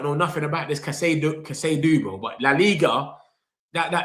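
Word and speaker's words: Casadó: Um, it's it's pronounced Cass. Casad Casadoo. Oh, Cassadoo. I knew it. Spanish. I knew I was saying it wrong.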